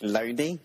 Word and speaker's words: Looney: And the guy's name that put this forward was J.T. Loney, but it's spelt loony, which kind of makes me laugh. So basically, it's J.T. Looney, but he didn't want to be called Looney.